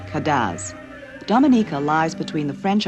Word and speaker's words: cadence: The music is spelled cadence and called cadaz.